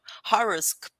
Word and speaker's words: horoscope: So it's almost like a horror movie, but it's a horoscope.